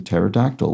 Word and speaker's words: pterodactyl: helicopter meaning spiral Wing the last word has a silent p as it's the same root as in pterodactyl which means Wing fingers